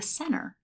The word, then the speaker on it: center: I might say the center or the center. Okay, so a T after an N sometimes just disappears.